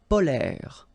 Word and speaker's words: polaires: Les climats polaires. So same thing here. E and S are not pronounced.